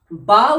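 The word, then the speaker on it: باء: বা উচ্চারণ হয় দুই ঠোঁটের ভিজে অংশের সাথে লেগে, বা বা।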